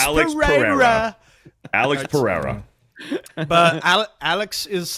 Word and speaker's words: Alex Pereira: Yeah, Alex Pereira this weekend. Hey, So- you have a Brazilian friend. You got to pronounce it correctly.